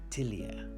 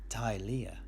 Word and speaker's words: Tilea: I couldn't say that one is right and the other is wrong, but yes, the locals do say Tilea, whereas us Western Empire types do pronounce it Tilea.